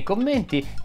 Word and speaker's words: commenti: Se ne hai di carine, suggeriscile qui sotto nei commenti. Potrebbero essere utili ad altri che hanno problemi di R. Commenti si pronuncia con la E chiusa, ma credo di averlo già detto.